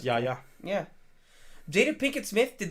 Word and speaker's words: Yahya: that's just how it is pronounced. It's Yahya.